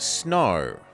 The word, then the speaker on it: snow: And snow. The W is silent.